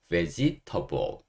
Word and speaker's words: vegetable: veg 하시고, table. 이거를 테이블이라고 읽으시면 안 되고, 여기서는 table, table. 이렇게 읽으셔야 됩니다. 그래서, vegetable이 아니고, vegetable, vegetable. 이렇게 하시면 돼요.